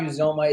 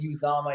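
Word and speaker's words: Uzomah: usama by the way it's not you zoma it's uzama he said that on twitter everybody's been pronouncing it wrong um and joe mixon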